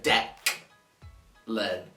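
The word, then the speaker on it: Deklan: c no it was d e k l a n so deck learn so this misspell this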